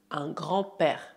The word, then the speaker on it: grand-père: Un grand-père. Aqui, novamente, o D de grand é mudo, un grand-père.